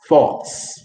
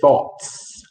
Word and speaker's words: thoughts: So you have to pronounce that word thoughts. Do you hear the thoughts? You just can't say thought. You have to say thoughts.